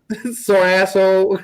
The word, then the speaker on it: Sargasso: If you say it right, Sargasso.